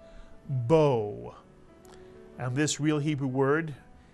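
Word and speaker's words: בוא: word b is correct the BET makes a b sound the makes an o sound and the olive is silent Bo and this real Hebrew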